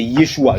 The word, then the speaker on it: Yeshua: Dit la prononciation en araméen, c'est Yeshua.